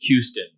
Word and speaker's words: Houston: whose last name was Houston um whenever you see h-o-u-s chances are it's going to be a huge or a hue sound so Q's done the